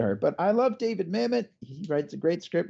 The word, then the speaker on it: Mamet: But I love David Mamet. He writes a great script, and Sean Connery. Say it like you should say it. Mamet. It's Mamet.